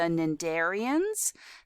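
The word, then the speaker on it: cnidarians: this group would be the nandarians the sea is silent this would include animals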